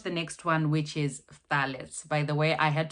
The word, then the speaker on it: phthalates: next one, which is phthalates. By the way, I had to Google to find out how this is pronounced. So it's phthalates. So it's the f and the together.